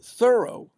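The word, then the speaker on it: Thoreau: It turns out that the accent does not belong on the second syllable, as in Merllo or Puo. It rests Whoops. It rests on the first syllable like thorough as in like thorough.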